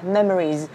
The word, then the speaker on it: Memories: Âm đuôi của nó theo nguyên tắc nó vẫn là Memories. Và đừng đọc là Memory, Mấy, có mấy mà. Nó là âm Am. Và nó sẽ là Mam, Mam, Memories, Memories.